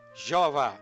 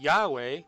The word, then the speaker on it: Yahweh: O mundo se afasta ainda mais dessa verdadeira pronúncia, pronunciando erradamente o Yod como J, Jeová, nem mesmo perto da pronúncia correta. Cerca de 7.000 vezes o nome do Senhor Yahweh aparece nas escrituras hebraicas.